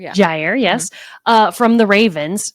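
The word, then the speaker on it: Jaire: You've got I'm going to say his name wrong. Jr. Alexander. Jier. Yeah. Gier.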